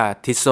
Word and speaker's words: Tissot: ๆ แล้ว แบน เนี่ย ถ้า จะ ออก เสียง ตาม ชื่อ ต้น ตำรับ ของ เขา จริง ๆ นะ ครับ เรา จะ เรียก ว่า ที่ โซ่ ซึ่ง เป็น การ ออก เสียง ใน สำเนียง ฝรั่งเศส นะ ครับ ถึง แม้ จะ เป็น